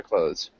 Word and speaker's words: clothes: my winter clothes. Um, so that might just be a simpler way to think of it. Um, it looks like cloths, but clothes is the best way to pronounce it.